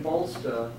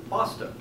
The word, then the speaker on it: Bolsta: it turns out that in Portuguese the L in bolster is silent which leaves Boston which means excrement I thought it was hilarious